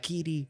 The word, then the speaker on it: Kiri: But I swear to God, I thought it was Kitty the whole movie. Well, they Jesus probably Christ. pronounce it like that, Kiri.